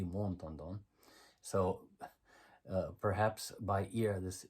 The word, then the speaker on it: Montandon: It is the Americanization of this, but it's interesting because the French pronunciation of the name would be Montandon.